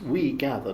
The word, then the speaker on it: Wegather: dot RT that's right that's right and it's pronounced We Gather not very garter if you're speaking German and